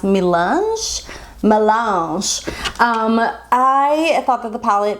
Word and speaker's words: Melange: I want to say it's pronounced Melange.